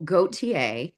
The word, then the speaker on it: Gauthier: Much like your last name, you know, goateier.